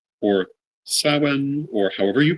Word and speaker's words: Samhain: So the word Samhain is spelled Samhain.